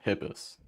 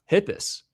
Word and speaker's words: Hietpas: how do you say your last name, by the way? I've just Yeah, Hippis. Hippus. There you go.